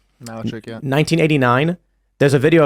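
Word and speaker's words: Malarchuk: Is that how you pronounce the name? Malchuk? Malchuk, yeah.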